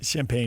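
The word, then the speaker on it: Champagnie: But Julian Champagne is 24? Yeah, he's 24. So how do you say his last name? I think it's Champagne. Champagne, yes. Thank you.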